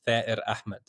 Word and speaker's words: Thair Ahmad: Yeah, and the way you'd say my name in Palestinian is Thair Ahmad.